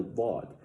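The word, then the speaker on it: ضاد: This letter is commonly mistakenly pronounced as the letter Dal. But these two letters have two different makharij, different places of origination, and two different sifat, how they're fashioned. The letter Dad is pronounced with the upturned side of the tongue when touching the molars and premolars, whereas the letter Dal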